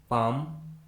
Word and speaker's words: palm: Rule number 3 में हम सीखेंगे यदि किसी इंग्लिश वर्ड के लास्ट में LK, LM, LD या फिर LF आता है तो उस इंग्लिश वर्ड में L कम्प्लीटली साइलेंट होता है, यानी L का किसी प्रकार से कोई भी उच्चारण नहीं किया जाता है।